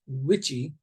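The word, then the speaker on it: WICHE: and the last one you see which is pronounced witchy uh that is a similar to the southern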